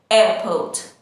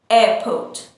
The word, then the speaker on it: airport: This is an airport, airport. In British English, we don't pronounce the R sound and we say airport, airport.